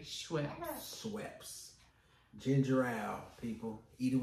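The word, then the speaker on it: Schweppes: what it is and we was asking y'all how do y'all pronounce it so we say sweps I say sweps sweps ginger ale people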